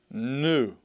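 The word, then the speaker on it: nu: next one the next letter is n n new and it makes the sound of as a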